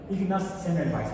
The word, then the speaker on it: Semmelweis: Ignaz Semmelweis, más o menos así se pronuncia húngaro, dado que es una lengua sajona parecida al alemán.